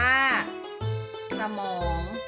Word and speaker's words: สมอง: นะ คะ เช่น คำ ว่า สมอง อ่าน ว่า สมอง ฝรั่ง อ่าน ว่า ฝรั่ง อ่ะ ตลาด อะ อ่าน ว่า ตลาด ค่ะ เรา มา ฝึก สะกด คำ ที่ มี อักษร นำ อ่าน ออก